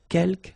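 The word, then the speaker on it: quelques: Uh, you don't pronounce the final s here. Keelk means few.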